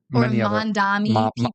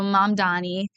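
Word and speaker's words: Mamdani: Mandami or like an N and M. Yeah. Yeah. So, Mom Donnie, that was a that was a tough one. The M and the N's are they're also hard to sometimes reading that they look similar, you know? It's it's tough sometimes. So, but of course, Mom Donnie, very important public figure. Always try to do that one correctly.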